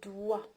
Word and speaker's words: doigts: ensuite صبعان، les doigts، les doigts، doigts، d o i g t s.